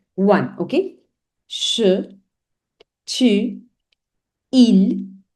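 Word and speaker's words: ils: Il, that is masculine plural, but you add an S, but S is not pronounced.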